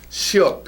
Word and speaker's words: 시옷: Shiot.